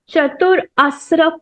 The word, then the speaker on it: Chaturasra: Part number 3 is called as Chatur Asra Pranayam. Difficult to pronounce.